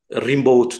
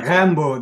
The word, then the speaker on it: Rimbaud: şiirinin en nadide örnekleri, Rimbaud diyorduk o zaman, Rimbaud diye okunuyormuş mesela, bunu bilmiyordum. İşte Hatta Rambo diye okunuyor. yani işte biz onu mesela Rimbaud şeklinde okuyorduk ve ilk kez ben üniversitede onun Rambo şeklinde, aslında o da yanlışmış.